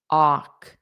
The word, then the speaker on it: walk: basic A1 word, but I actually hear a lot of misprononunciations with the word walk. O walk because the spelling and pronunciation do not match. So make sure you're saying walk.